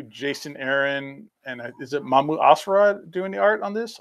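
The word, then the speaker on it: Mahmud Asrar: And is it Mamu Asrad doing the art on this? Or Jess is the pronouncer of words. Jess, how do you say that man's name? 50% off. Perfect. Yeah, Mahmoud Asrar.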